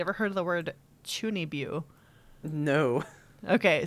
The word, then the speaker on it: chuunibyou: You ever heard of the word chunibyu? No. Okay, so it's CHUUNIBYOU, chunibyu. I think I'm pronouncing it right.